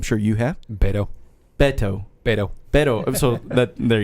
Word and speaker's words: Beto: but Andra I'm sure you have in paedo Beto Beto Beto so but there you go I